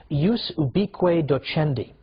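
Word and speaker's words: ius ubique docendi: there was something called in Latin and I'm using the church pronunciation use be Cueto Chen D which literally means the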